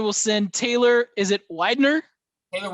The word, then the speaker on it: Widener: Is it Widener? Taylor Widener, yeah.